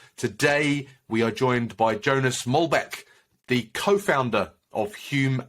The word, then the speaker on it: Jonas: I should set uh you can say Jonas in uh in the English pronunciation uh Jonas here in Denmark uh it's it's a